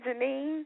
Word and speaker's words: Jennene: been a long time and I am I pronouncing your name right Janine yes that's correct okay but your nickname is